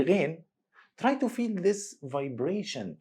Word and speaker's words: Ghein: Just make a vibration in the top section of the throat and push some air out. It will be Ghein.